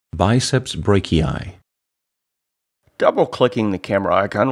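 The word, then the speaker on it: biceps brachii: clicking the icon once you can hear the name pronounced properly biceps Breaky eye double clicking the camera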